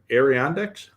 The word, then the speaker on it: Adirondacks: So Scott put together a, while he was camping in the Adirondacks. How do you pronounce that?